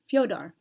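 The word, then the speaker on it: Fyodor: LA or Hanukkah finally the letter e with an umlat over it is transliterated as yo not e or EO what spelling of them Russian form of Theodore most accurately shows its pronunciation of fyodar f-y-o-d-o-r-f-e-d-o-r-f-e-o-d-o-r although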